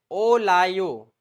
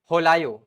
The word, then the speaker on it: olayo: Word J sign indicates olayo, O-L-A-Y-O, underline this, or also known as H is silent, holayo, right?